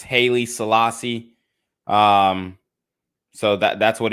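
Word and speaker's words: Haile Selassie: people should read that for themselves what about Holly Selassie because this is what happened to Kyrie Irving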